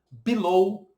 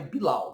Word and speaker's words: below: Por exemplo, a palavra low, below, roll, né? Aliás, ainda bem que below é assim, porque senão ficaria bilau, né?